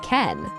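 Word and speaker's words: けん: Before kanji came to Japan, the native Japanese reading was enu. The reading that came from China together with the kanji is ken.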